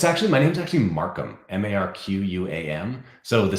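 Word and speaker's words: Marquam: there it is oops sorry I got your name wrong I'm sorry about that it's actually my name's actually Markham m-a-r-q-u-a-m so the C is just arbitrary like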